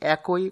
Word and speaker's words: একই: মূলত উচ্চারণটি একই কোনোভাবেই সঠিক নয়, সঠিক উচ্চারণ হবে একই।